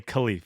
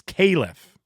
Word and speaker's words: Khalif: And I still want to say Khalif, but it's Caliph Battle. Yeah, it's like Caleb with an F.